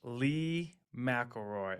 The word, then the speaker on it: Leigh McLeroy: excited today to have a guest with us Lee McElroy am I pronouncing that correctly perfect awesome uh so Lee